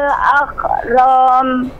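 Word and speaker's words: أكرم: Iqra wa rabbukal akram. Ramnya tidak panjang. Akram langsung. Iqra wa rabbukal akram.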